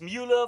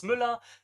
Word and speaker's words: Mueller: He says for English speakers it's Mueller, for German speakers it's Müller.